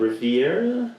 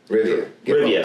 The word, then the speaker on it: Rivia: Like, yeah, and that's we're getting Geralt of Riviera. Yeah. Yeah. Rivia.